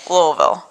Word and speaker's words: Louisville: right so I'm going to just keep saying Louisville Louisville Louisville Louisville yeah you're there you're there